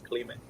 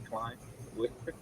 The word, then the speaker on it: Clime: Because I mean, obviously it's Clement, but Yeah, for a known person, let me say Clime.